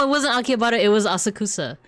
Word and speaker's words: Asakusa: It was Asakusa. Asakusa or like as the locals will probably pronounce it as Asakusa.